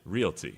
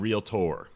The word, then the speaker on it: realty: say it right realty Realty there's not an O it's Realty and real tour ok and so you're